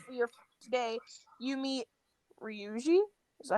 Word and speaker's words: Ryuji: As you are going to school for your today, you meet Ryuji. Is that how you pronounce that? Yes, Ryuji.